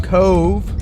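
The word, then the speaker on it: Cobh: today we're heading from Cove which is definitely how you pronounce it over to Waterford then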